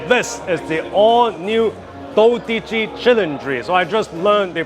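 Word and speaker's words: Dodici Cilindri: and gentlemen so this is the all new do chry so I just learned the proper pronunciation from the speech that general manager of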